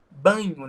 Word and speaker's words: Bagno: fala de variação linguística chamado Marcos banho né E se escreve bagno com g mudo ele é um